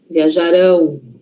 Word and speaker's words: viajarão: E o futuro? Futuro não é lá na frente, então a sí forte tá lá na frente. Viajarão, viajarão.